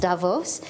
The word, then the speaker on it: Davos: of you this is my first trip to Davos I've understood it's pronounced Davos and I've heard so much about this and